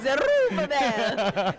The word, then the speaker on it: Zerubbabel: Our producer would like us to know that the correct pronunciation of Zerabel is Would you stop that? I'm not pronouncing it like I'm not. No, no, no, no. It's Zerubbabel.